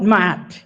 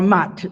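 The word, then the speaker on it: Maat: They call it Mat or Mat, whichever way you want to pronounce it, M-A''A'.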